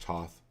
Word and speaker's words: Thoth: it was taken supposedly to Egypt uh by Thoth the uh the leader of Atlantis and a lot of times you've seen me use the Thoth deck it's actually pronounced Toth but my point is is the black pillar